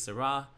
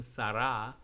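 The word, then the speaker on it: שרה: reish and the hay the hay in yellow is the h at the end of sarah and is silent but holds the place of a vowel preceding it the t looking symbol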